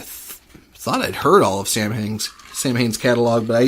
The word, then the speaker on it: Samhain: that it apparently that correct Gaelic pronunciation is saw win' even though it's spelled